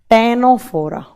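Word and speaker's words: Ctenophora: देखिए लिखा जाएगा सी से, प्रोनाउंस किया जाएगा टी से, टेनोफोरा।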